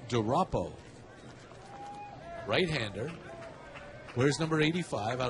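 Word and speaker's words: DuRapau: First name Montana, and the last name is spelled D-U, capital R, A-P-A-U, Montana DeRoppo.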